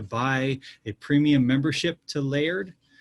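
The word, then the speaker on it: Laerd: a premium membership to layered l-a-e-r-d that's how you pronounce that word that name layered uh it's a great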